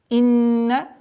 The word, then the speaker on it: إِنَّ: Инна, обращаем внимание на четкость произношения огласовки кесра. Удержание назализации в размере 2 огласовок.